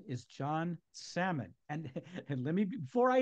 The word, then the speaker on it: Salmon: his last name because it's spelled like the fish and he says up here we say sammon um down where I am it's salmon but anyway John salmon